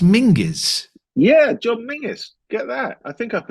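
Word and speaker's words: John Menzies: John men's although I've since been told it's pronounced mingis yeah John mingis get that I think up in Scotland that's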